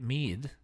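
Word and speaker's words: Mide: this we can create me and yes I am pronouncing that correctly uh it is made like a drink rather than meat um so we can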